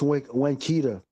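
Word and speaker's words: Winnetka: I slip up and try to pronounce the T, but it's Winkita.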